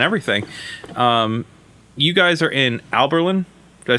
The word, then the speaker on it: Abilene: You guys are in Abilene. Did I say that correctly? Abilene. Abilene.